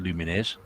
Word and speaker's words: Lumines: Ross says not to sound like a dick, but it's pronounced Lumines. Yeah, it does. Okay. He does. I always pronounce it Lumines, but I didn't want to be that guy who corrects people because it could be wrong.